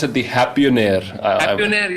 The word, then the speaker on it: Happionaire: Happionaire, yeah, like billionaire, millionaire. Okay, fantastic.